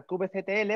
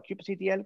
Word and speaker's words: kubectl: Kubernetes utiliza una cosa que se llama kubeconfig, una configuración que indica a esta herramienta, a kubectl o a kubectl, como lo quieras pronunciar, a qué clúster tiene que hablar, ¿vale?